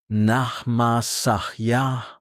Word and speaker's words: nama saya: In Indonesian, you say nama saya. Pronounced nahma sahya.